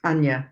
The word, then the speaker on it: Anya: Anya. Hi. I just have Please to do correct me on any name pronunciation. Oh, it's Anya, but you're so close.